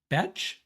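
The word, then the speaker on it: Bech: Caden Prather, the Felton's teammate at Maryland, and Jack, and we're deliberating how to pronounce his last name. We've decided it's Jack Besh out of TCU.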